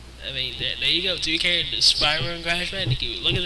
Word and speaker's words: Spyro: Yes, I said it right, Spyro.